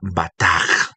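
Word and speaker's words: בטח: Entonces ahí tiene una pronunciación con una J al final. Se deletrea de la siguiente manera. B, A, T, A, K, G. Bataj. Bataj. ¿Listo? B-A-T-A-K-G. K-J, perdón. B-A-T-A-K-J. Bataj.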